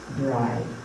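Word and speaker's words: Brigid: we honor the bride which is how he spells pronounced b-r-i-d-g-i-t bride wearing white i won't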